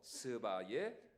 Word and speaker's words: 스바: 살펴보기 원하는 누구입니까 바로 스바의 여왕이었습니다 습니다 발음을 잘하셔야 됩니다 스바 시바가 아닙니다 옛날에는 시바 여왕이라 그랬는데 뭐 상관없습니다 뭐 어차피 외래 하니까